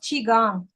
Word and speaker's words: Qigong: It's pronounced Qigong. It's like Tai Chi.